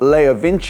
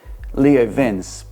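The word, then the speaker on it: LeoVince: This is from Leo Vince. I think probably in the UK a lot of people say Leo Vince, but I believe in Italian it's Leo Vince.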